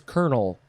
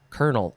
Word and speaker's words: colonel: last word is is it's not pronounced how it should be pronounced it is kernel uh but it is spelled c-o-l-o-n-e-l kernel obviously noun from in